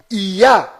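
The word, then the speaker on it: יה: Toda vez que estas duas letras hebraicas estão fazendo referência ao Altíssimo, estão fazendo menção ao Altíssimo, a pronúncia delas sempre é ia.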